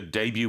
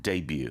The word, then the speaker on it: debut: And I think it's good to point out the spelling here, D-A-B-U-T, because it comes from the French, like buffet. We pronounce it debut.